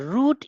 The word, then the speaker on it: route: is dangerous because the route is tough and full of snakes and scorpions. The route. Look at the word route. Route, road, रस्ता. याच उच्चाराचा आणखी एक शब्द आहे, पण ज्याचं स्पेलिंग वेगळं आहे.